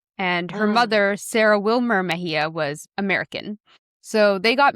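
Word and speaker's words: Mexía: And so in some places or sometimes it will sound like Mexia but like she's from Mexico so it's pronounced in Mahia but I just wanted to say that.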